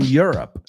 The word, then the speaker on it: Europe: I live in Europe. You're up. No digo que no puedes decir Europe, but if you want to say it the way we would say it, Europe.